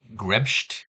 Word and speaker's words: grebst: By the way, Grebst C is from an area in Germany where you pronounce her name like Grebst.